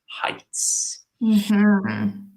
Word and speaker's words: height: yeah nice works good remember this can be confusing for the pronunciation because we have the word weight and we have the word height okay just one letter different but the pronunciation is totally different so it's Heights